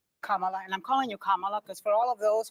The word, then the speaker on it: Kamala: about hurricane Helen Kamala and I'm calling you kamla because for all of those who are mispronouncing it I want you all to know